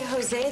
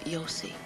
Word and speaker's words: Jose: Rabbi Jose the Galilean said, honey, it's pronounced Yossi.